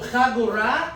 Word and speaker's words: חגורה: So chagora is belt. Is belt. Chagora. 3 syllables.